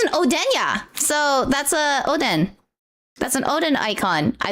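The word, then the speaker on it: おでん: But apparently you're supposed to pronounce it Odin, not Oden cuz I I say Odin.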